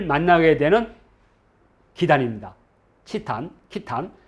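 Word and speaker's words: Khitan: 그리고 러시아는 말 그대로 그냥 키탄에 이게 늘어나서 키타이. 이것이 이제 캐세이와 같은 발음인 거죠. 캐세이, 키타이. 그리고 영어가 이제 캐세이가 됩니다. 그런데 거란 사람들은 이걸 어떻게 읽었을까? 저는 이 발음이 가장 정확하다고 봅니다. 키탄.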